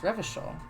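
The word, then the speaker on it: Revachol: we were in this game every show is pronounced revishal oranie is pronounced orange classy is pronounced all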